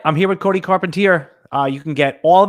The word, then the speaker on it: Carpentier: Oh, Carpentier, and they don't put it together. It's literally so easy. It's car, it's pen, and it's tier 1.